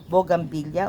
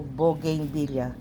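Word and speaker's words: bougainvillea: So maraming nagsasabi, "Ano ba talaga yung pronunciation? Bogangilla o bogin villa?" Ang totoo pong pronunciation niyan ay bogin villa. Bogin villa.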